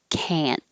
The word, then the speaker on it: can't: i can see that if it's negative now you will hear the vowel ah can't but you won't hear the t i can't do it